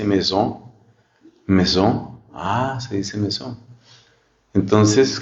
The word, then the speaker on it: maison: Si estoy empezando a aprender francés y digo maison, entonces no se dice así, se dice maison.